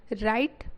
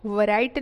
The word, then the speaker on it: write: राइट well, राइट well, राइट means होता है लिखना, WRITE, राइट। तो इसे क्या पढ़ेंगे, इसमें W जो है क्या है, साइलेंट रहेगा, है ना।